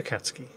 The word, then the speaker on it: Akatsuki: torpedo boat destroyer the akatsuki there you see i can pronounce it properly i just have to remember to not stress the u although it occurs to